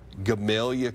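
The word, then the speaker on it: Gamaliel: Hermitage Springs, Gamalia, Kentucky is how you say that one.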